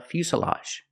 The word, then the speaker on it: fuselage: airplane it's called a fuselage pronunciation make the u sound u f Fus Fus the S is a true S Plus the short sound uh Fus fuselage this is